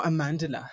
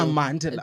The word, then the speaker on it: Amandla: Here I have Amandla Sternberg. No, Amandla. Say it right. Darling. It's Amandla.